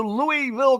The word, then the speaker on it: Louisville: can tell the guys that don't welcome to Louisville Kentucky which is the exact pronunciation and I don't know when this change